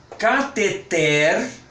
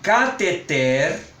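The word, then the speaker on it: cateter: fazer a pronúncia correta são oxítonas catheter vou repetir catheter Harém Essa é fácil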